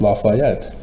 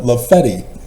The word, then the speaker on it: Lafayette: York like laet Lafayette and nope it's not pronounced Lafayette the people call it laety that's why I purposely say Missour because that's